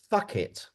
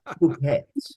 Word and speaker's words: Phuket: I'm in the island of Fuck It. Oh, hang on, no. Okay. I think it's pronounced Phuket. And easy mistake. Easy mistake to make.